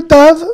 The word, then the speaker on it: ת: En hébreu moderne, il se lit toujours T. Et je dirais même qu'il se lit exactement comme le Tet. Le Tet et le Tav ont exactement la même prononciation en hébreu.